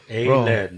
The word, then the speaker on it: Aled: A-lead, that's how you spell it. Yeah. Yeah, like a piece of lead. But not L-E-A-D. Lead is L-E-A-D, right? Lead. Yeah, A-L-E-D.